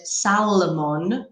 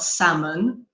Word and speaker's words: salmon: for a long time I said Salamun not salmon oh wow yeah dude